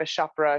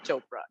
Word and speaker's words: Chopra: of all uh because everybody's priyanka chapra chakra it's not chopra it's like if you can say oprah you can say chopra you know it's not